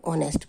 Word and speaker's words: honest: यहाँ पर देखिए H लगा हुआ है लेकिन साउंड नहीं कर रहा, ये साउंड क्या कर रहा है, O। हम ऑनेस्ट बोलते हैं तो H साइलेंट है, इसलिए N honest person.